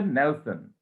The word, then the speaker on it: Nelson: নেলসন, উচ্চারণটা হচ্ছে নেলসন।